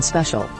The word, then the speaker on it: special: the short e in special is not a dong and sounds like the short e at the beginning of elephant you could make a